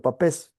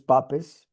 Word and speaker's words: Papez: Lo pueden leer de cualquiera de las dos formas. Creo que la pronunciación original en húngaro era James Papes, pero todo el mundo le llama, en inglés le llaman circuito de Pepys, y en español casi